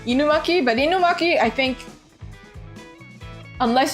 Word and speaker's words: Inumaki: Yeah, Inumaki is the correct pronunciation, but in English, would they say Inumaki? See, but Inumaki is how you pronounce it because you watch anime.